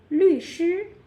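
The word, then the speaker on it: 律师: 律师. Yeah. So 律 which is the falling tone, and 师 that is the first tone.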